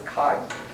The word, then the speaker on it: chi: saying chi wj so sometimes i'll just pronounce that as kai so kai maps o